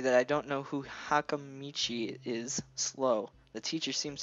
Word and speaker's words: Hakamichi: You can work with Hakamichi. She is the class representative. What? No, you pronounced it right.